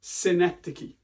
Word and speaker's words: synecdoche: That word is pronounced synecdoche.